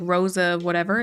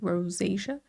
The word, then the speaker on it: rosacea: It's not like not like Rosa whatever. It's like rosacea.